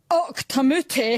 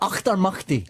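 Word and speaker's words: Auchtermuchty: All the way from Octamuti. Is that right? Nearly. It's the Proclaimers, Craig and Charlie. Achtermachti.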